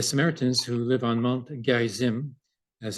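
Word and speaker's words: Gerizim: that uh the Samaritans who live on Mount Gary Zim as it's pronounced uh had a second temple there and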